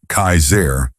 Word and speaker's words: Kassar: One man in particular, who called himself Kassar, pronounced Kaiser, was especially dangerous.